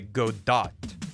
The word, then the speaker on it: Godot: I pronounce it the Hispanic way, Godot.